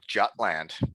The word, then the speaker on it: Jutland: Oh, Jutland. You're making the J's silent too.